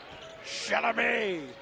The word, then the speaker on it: Chalamet: You got to pronounce it like Adam Sandler did. Chalamet.